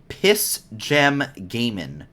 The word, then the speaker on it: Piss Gem Gaming: understand versus uh and I'm I am not pronouncing this incorrectly it is piss gem gaming so yeah what uh p-i-s-s space g-e-m space